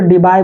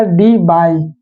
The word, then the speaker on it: Debye: जब मार्केट में ये आएगा ये डायपोल, तो उसको डीबाई बोलेंगे, क्या बोलेंगे, प्रैक्टिकल यूनिट इसका डीबाई। डीबाई का स्पेलिंग क्या है, DEBYE, DEBYE।